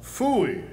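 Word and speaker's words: pfui: Phooey. It can be spelled several ways. I spell it P-F-U-I.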